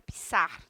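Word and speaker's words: Pixar: coco produzida por fixar a verdade é pronúncia pisar tá e distribuída por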